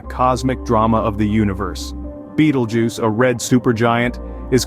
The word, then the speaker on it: Betelgeuse: Celestial Wonder Beetle juu pronounced as Beetle Juice is a red super